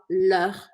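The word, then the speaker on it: leurs: delas tanto faz aí a gente fala le também mesma pronúncia mas com um S aqui no final então recapitulando esse quadro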